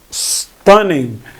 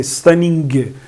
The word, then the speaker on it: stunning: Stunning. Here we don't often pronounce G. We don't say stunning. It's stunning.